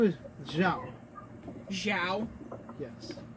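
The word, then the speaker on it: Xiao: since you all done introductions, my name is Zhao. Zhao? Yes. Like, Admiral? Zhao? Yes. It's Zhao.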